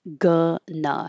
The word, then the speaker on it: gonna: So you'll see it spelled like this, but really it's changing going to into gonna. And it really remember it sounds like gna. It's the schwah both times.